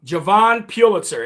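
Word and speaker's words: Jovan Pulitzer: night and I got his right name um Javon Pulitzer. It's not Hovind Pulitzer, it's Javon Pulitzer.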